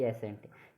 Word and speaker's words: scent: है, जैसे ये SCENT एसेंट, यानी कि एस के बाद आया, एस के बाद सी आ रहा है तो इसमें सी को नहीं पढ़ेंगे हम, इसमें क्या है, सी साइलेंट है, एसेंट बोलेंगे। जैसे दूसरा उदाहरण देखिए, DISCIPLE, डिसिपल।